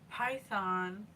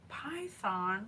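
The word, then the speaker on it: Phaethon: here Helios confirmed that python python which sounds like a snake but it's spelled PA a h i t h o n was indeed his son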